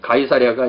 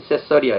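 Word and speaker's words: Caesarea: 이 가이사랴가 이게 카이사리아인데요. 이게 이제 성경에 나온 그 가이사랴입니다. 이거는. 근데 이게 이제 영어로 읽을 때는 세서리아 이렇게 읽어요.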